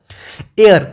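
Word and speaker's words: heir: हैं हम लोग उसको, ऐसे देखने में तो ये हायर है, ठीक है, मतलब वो जो वारिस होता है, लेकिन ये है क्या, एयर। प्रोनाउंस कैसे करते हैं हम इसको, एयर, मतलब कौन सी साउंड आती है, ए साउंड आती है।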